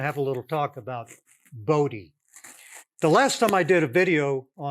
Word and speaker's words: Bode: It's a Dutch name, and the Dutch pronunciation is Bode. His family preferred the Dutch pronunciation. His colleagues, including Claude Shannon and Harry Nyquist at Bell Labs, they called him Bode. All my professors called it a Bode plot, so it's a Bode plot.